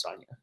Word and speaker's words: Sonia: The PH is silent, so it's just Sonia.